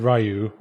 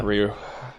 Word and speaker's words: Ryu: Well, I said Ryu. Yeah, that's wrong. Yeah. Ryu. Ryu. I'd like, as in the siren. Ryu.